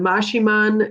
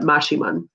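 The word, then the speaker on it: Maximón: m-a-x-i m o n looks like maximum but we pronounce that mashiman are you guided to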